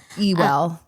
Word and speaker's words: Ewell: Ewell. It's actually pronounced Ewell, but it's spelled like Ewell.